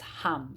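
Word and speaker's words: ham: chakra mint mantra is hum it's spelled h a m but pronounce h-u-m-hum and it will help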